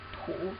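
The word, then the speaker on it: 土: You have the character tu, which means soil or ground. Tu.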